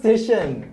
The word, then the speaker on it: Titian: and gentlemen the artwork by DT and it's pronounced Titian okay but you said okay fine I'll be